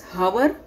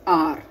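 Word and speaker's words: hour: So do we pronounce hover? No. We'll pronounce R. So here, can you listen the word H? No. H is a silent letter in this word.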